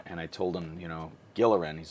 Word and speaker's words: Gilleran: It's a hard G, not a soft G.